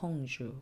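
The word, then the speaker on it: Orange: 번쯤은 들어보셨을 통신사 이름이죠 오주는 이제 오렌지 네를 슷 똑같이 쓰는데 이제 발음은 불어로 오주 가 되는 거고요 어 이야기를 좀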